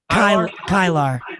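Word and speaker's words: Kilar: Kylar.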